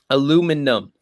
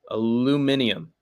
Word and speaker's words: aluminium: Aluminum, as Westerners pronounce it wrong as hell. Aluminium.